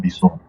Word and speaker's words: BSON: That's binary JavaScript object notation, like BJSON. Yeah, that's why it's pronounced BSON.